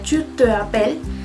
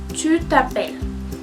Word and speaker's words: tu t'appelles: Entonces, si se dan cuenta, no sería tu te appelles, mais tu t'appelles.